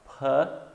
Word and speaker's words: potato: Batata tem 2 schwas. Potato, potato, potato, potato, ok?